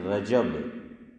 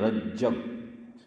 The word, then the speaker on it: رجب: رجب، یہ رجب، میں کہ گجب ہے، ہاں یہ ہے رجب، کیا ہے؟ جیم پر فتح ہے، زبر ہے، رجب، تو کیا بولو؟